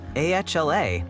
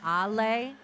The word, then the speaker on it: Ale: First of all, Phil, my name is pronounced Ale, and I know you're trying to say AHLAY, but it's just Ale.